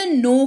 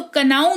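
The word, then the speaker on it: know: इस्तेमाल करते हैं शब्द नो का देखो के एन ओ डब्लू है तो कनाव नहीं पढ़ते हैं इसको इसको नो पढ़ते हैं और यह क्यों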